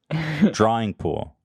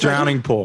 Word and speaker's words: Drowning Pool: hit the floor which i thought was apt drawing pool what did i say drawing pool dry what